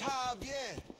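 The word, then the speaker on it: Jaime: busy here doing something it's jaier it's pronounced like an H if you're looking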